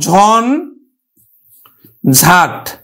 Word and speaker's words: ঝঞ্ঝাট: যেমন দেখো যে ঝঞ্ঝাট, এই ঝঞ্ঝাটটা তাহলে দেখো ঝন ঝাট, ঝঞ্ঝাট। এই দেখো ইয়টা কিন্তু দন্তন্বয়ের উচ্চারণ হচ্ছে প্রত্যেকটা ক্ষেত্রে।